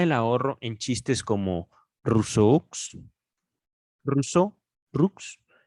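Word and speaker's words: Rousseau: un juego de palabras con el nombre de ruso que se pronuncia en francés igual que lux rojo & soft es tonto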